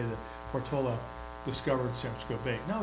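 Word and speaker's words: Portolá: I'm supposed to say Portola. I think that's the correct pronunciation, apparently.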